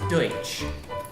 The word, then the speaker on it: Deutsch: I am not Dutch. I am German. It's pronounced Deutsch.